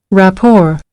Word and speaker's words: rapport: yeah R is here rapor but when it's pronounced rap it doesn't pronounce t sorry doesn't pronounce t yeah so it's it's because it's borrowed from French so what does that